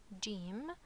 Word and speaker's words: جيم: We can know how to pronounce it from its name. It's letter Jeem. So the pronunciation would be J, J, okay, J.